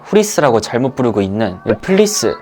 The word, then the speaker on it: 플리스: 표시하고 나서부터 많은 분들에게 후리스 라고 알려진 건데 사실은 단어만 봐도 누가 봐도 플레이스가 정확한 발음 이거든요 그래서 여러분들도 어디가서 후리스